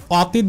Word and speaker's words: অতীত: তাহলে সেক্ষেত্রে এই স্বরে অ এর উচ্চারণ আর অ হবে না, অর্থ এই শব্দকে অতীত বলা যাবে না, এই শব্দকে বলতে হবে অতীত, অতীত।